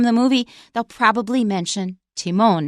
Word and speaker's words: Timon: little clip from the movie they'll probably mention Timon not time in so that's one thing I said there were